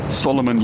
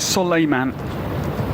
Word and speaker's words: Soleiman: Solomon, you'd be tempted to say, but it is Soleiman.